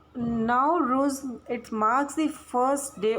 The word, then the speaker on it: Nowruz: नॉर्वस Navroz Navroz Navroz नूरवुज़ nervous and नौरिया, इनका मतलब क्या है? न्यू डे। इसका जो स्पेलिंग है, ये प्रोनाउंसिएशन है, it varies by the country. So Nowruz, it marks the first